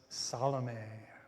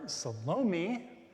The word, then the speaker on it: Salome: the Roman historian Josephus, was Salome, or Salome, I guess, depending on whether or not you've watched the 1953 movie starring Rita Hayworth, and I do not recommend it. Anyway, that's how they pronounced her name, but I prefer Salome. It's just more poetical and sounds a little bit less like salami.